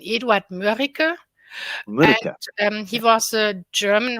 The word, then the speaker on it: Eduard Mörike: Edward Murko. No, Murko? Yeah, the German pronunciation, Eduard Mörike.